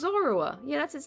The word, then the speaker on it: Zorua: It's Zoroa. Yeah, that's his name. I just pronounced it wrong.